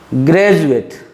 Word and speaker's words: graduate: Graduate. Here also D gives the sound of jaw.